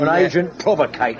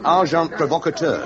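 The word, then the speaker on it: agent provocateur: And agent provocator. S. Amazing. Packar. The pronunciation however is arjant provocator.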